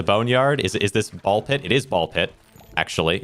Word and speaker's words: BALL x PIT: So yeah, so I do think it's and they they think they say ball pit, right? So it's it's got to be pronounced that way. Uh without the X.